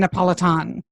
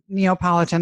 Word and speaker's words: Napolitan: I loved um Stephen Napolitan. I said it right. Right. Not Neopolitan ice cream and the work life balance.